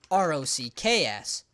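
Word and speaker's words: Rahks: Now, when I say rocks, I don't mean rocks like R-O-C-K-S. I mean rocks like R-A-H-K-S. Because that is how all of these rocks are spelled.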